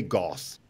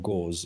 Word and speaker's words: Gauss: saying it right but i said it's gauss but or gauze but it's gauss it goes to reminds me of bandages so yeah yeah exactly so it's gauss-like house i think so anyway